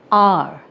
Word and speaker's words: hour: For example, an hour, Though it starts with H, but we are not pronouncing the sound of H.